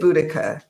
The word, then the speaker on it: Boudica: Yes, it is Boudica.